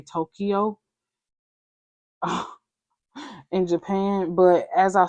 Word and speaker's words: Tokyo: But like as Americans, we pronounce it like 2 syllables, Tokyo, three syllables, but it's Tokyo.